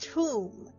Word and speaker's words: Thum: I have something named Thum. Pronounced Tomb.